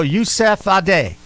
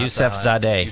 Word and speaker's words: Yusefzadeh: I think the Z is silent, so I'm going to go Yusefzadeh. Yusefzadeh. It isn't silent. Yusefzadeh. Yusefzadeh. I'm going to go with Yusefzadeh.